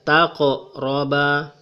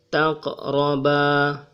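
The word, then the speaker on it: تَقْرَبَا: Ini adalah huruf qof, jadi suara bergetar di sini, tetapi getarannya kecil. Taqroba. Jangan dibaca sebagai taqroba. Ini juga tidak boleh dibaca sebagai taqroba. Cara yang benar adalah taqroba. Getarannya kecil.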